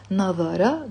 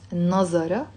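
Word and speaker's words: نظر: comments that i wrote but in fusha they will say navara which in lebanese even infuse how we pronounce nazara and yanduru which we pronounce as uru in lebanese he looked he looks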